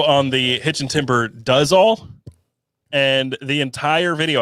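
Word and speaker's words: Duz: It's spelled D-U-Z. So I'm like, Do's? And I literally hit publish and I looked at the word and I'm like, oh my God. It's does. Yeah.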